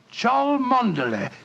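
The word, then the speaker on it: Cholmondeley: thought of that Cham that name spelled c h o l CH m o n man d e d l e y Char manday manday precise the old fellow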